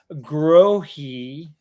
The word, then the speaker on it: Grohe: And it's pronounced Grohe.